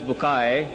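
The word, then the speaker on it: Bucaille: and a scholar of quran dr maurice bukhail pronounced as maurice bukai am i right doctor doesn't matter okay he's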